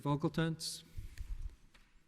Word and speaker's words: Vogeltanz: Council let everyone get situated all right Mr vocal tents I pronounced your name correctly you did your honor okay um you may begin thank you may please the court opposing Council good afternoon everybody I'm vogeltans my client is the plane of Shane Wilkinson